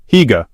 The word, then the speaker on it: Hygge: Hygge, pronounced Hygge, extends far beyond the international trend of cozy blankets and candles.